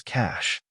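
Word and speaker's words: cache: in English it is spelled as CA the correct pronunciation of this word is Cash cach means a collection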